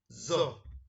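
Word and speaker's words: ظاء: It is very close to Z, but not as the pronunciation of letter Z. More heavier than that, and thicker than the pronunciation of zo.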